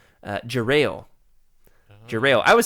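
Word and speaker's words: Jarael: I also realized that I've been pronouncing um I said Geriel.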